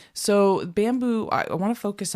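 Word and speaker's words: Bambu Lab: We're going to focus today on Bamboo. Bamboo Labs is a printer company that and spell it for the people. It's not bamboo is the way you think.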